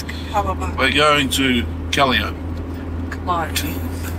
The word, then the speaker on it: Calliope: Calliope, I'm informed, is the way it's pronounced. But then again, I reckon it's Capalaba and I reckon it's Capalaba, so It's Capalaba. we're going to Calliope.